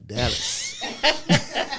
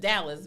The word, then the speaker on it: Dallas: And the sister said she was from Dallas. So, I know she's from Dallas because she said it right, Dallas. Not Dallas, but Dallas.